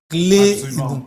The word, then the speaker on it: Claye Edou: Voilà, c'est comme ça que ça se prononce, non? Clé Edou.